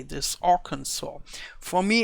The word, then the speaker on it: Arkansas: And I'm not so sure whether I pronounce it correctly, this Arkansas.